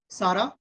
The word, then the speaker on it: Sarah: Neeraj, it is Sarah, not Sarah। Hindi में pronounce नहीं करना है, उसका प्रोनाउंस होगा Sarah, राइट? जो हम हमारा जो एक हीरोइन है सारा, ठीक है, ठीक है, लेकिन इंटरनेशनली उसको सैरा पढ़ेगा।